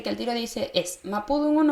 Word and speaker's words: mapudungun: Mapudungun y mapuzungun, ¿ya? D por Z, ¿ya? Va a depender de donde ustedes sean, cómo lo van a pronunciar, ¿ya? Siempre el, la, le hablante de su territorio tiene la razón en la pronunciación, ¿verdad?